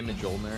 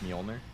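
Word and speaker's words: Mjölnir: What, is that when people say Mjolnir instead of Mjolnir or whatever? Mjolnir? The correct pronunciation of that is like with a Y instead of a J, right? Like Mjolnir. Mjolnir? Or is that the incorrect one?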